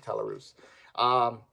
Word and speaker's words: Talarus: Talarus. Yeah, that's how you pronounce it, Talarus.